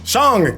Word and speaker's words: Shang-Chi: Shang, god darn it.